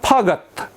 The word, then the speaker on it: फगत: अनि अर्को छ फगत, फगत, फगत। 2 चोटिमा उच्चारण हुन्छ है, फगत।